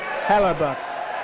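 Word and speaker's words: Hellebuyck: a goalender play as well as goalie Connor Halabach. Oh, he pronounced it correctly.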